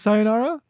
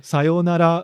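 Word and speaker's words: さようなら: situations don't actually use sayonara right or sayonara or that would be something closer to how it's pronounced in japanese but um what are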